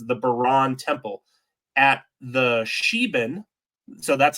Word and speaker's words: Sheban: place known as the Baran Temple at the Sheban. So that's how you pronounce that, Sheban.